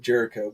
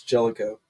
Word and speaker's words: Jellico: I guess I always pronounced it Jericho, but I guess it's Jellico.